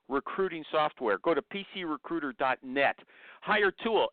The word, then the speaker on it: Hiretual: Apparently, it's supposed to be hire chew-all, but I don't pronounce it that way.